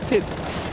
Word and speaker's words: Pyth: As some might know, Pit actually is spelled Pyth. And he likes to be called Pit. So yeah, there are some differences sometimes.